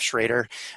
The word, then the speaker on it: Schroeder: to remind him that i use that pronunciation of schrader uh it varies across the country everywhere i go um but that's that's that's how my family chose to do it um i'll be talking